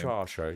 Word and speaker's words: Saoirse: Oh yes, I can't remember how to pronounce her name. Saoirse, yeah.